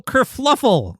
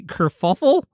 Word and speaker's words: kerfuffle: So there was a little kerfluffle, and I pronounce it that way because it was brought to my attention that I've been saying it wrong, and it's apparently kerfuffle? No way. Yeah, Mary brought it to my attention that I've been saying kerfluffle, which is incorrect, for 7 years now,